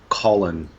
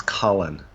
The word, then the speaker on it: Cullen: I always pronounced it Colin, but apparently it's Cullen.